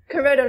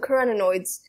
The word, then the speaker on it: carotenoids: carotenoids okay carotenoids carotenoids kurodo no carotenoids carrots and no it's okay think of carrots and humanoid and then like combine them I spent like ten